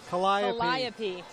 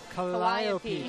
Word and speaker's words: Calliope: Calliope. Calliope.